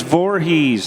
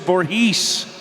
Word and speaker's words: Voorhees: cut I go what they're like it's Voorhees I'm like I said Voorhees and they're like no you said vorhis I'm like okay let's